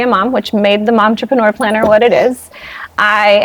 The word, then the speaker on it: Momtrepreneur: Momtrepreneur planner.